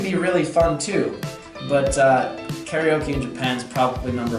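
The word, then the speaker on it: カラオケ: which is pronounced karaoke in Japanese.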